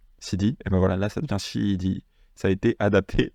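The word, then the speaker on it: シーディー: à la sauce japonaise, mais du coup, c'est pas CD, c'est bien shidi. Vous voyez, comme en anglais où ça serait shidi, et voilà, là, ça devient shidi.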